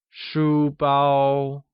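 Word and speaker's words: 书包: Shu bao uses high-level tones on both U and A and is pronounced as shu bao.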